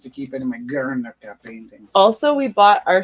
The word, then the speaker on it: Guernica: D Guernica or Garnica. L- No, not G-U-E? dipsticks. RNICA. Thank you. You're Guernica, two welcome. pieces. I put 2 R's. Good. Like you have to roll your R when you.